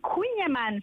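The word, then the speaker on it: Kouign Amann: It's La Maison du Queen Amman. So you pronounce queen like a queen.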